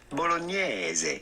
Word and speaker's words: bolognese: In French we would say spaghetti bolognese, and in English it's normally say spaghetti bolognese or something like that. But the typical Italian pronunciation would normally be spaghetti bolognese.